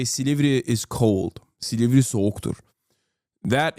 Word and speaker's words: Silivri: The mayor's detention provoked the country's biggest protest against Chatters will recognize Silivri. He said it wrong. It's not Silivri. It's Silivri. Okay.